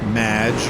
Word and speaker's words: Madge: thanks amy however you have mispronounced my name it's madge which rhymes with badge uh as in duh